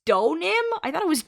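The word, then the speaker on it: Deauxnim: It's Donim. I thought it was I thought you could hear the X. Oh man, I thought it was Doim. Doim sounds cooler. I'll pronounce it right from now on. Donim.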